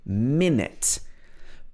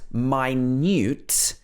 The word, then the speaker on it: minute: minute means very soon this is minute with the stress on the first syllable minute but if this word is pronounced minute then it means very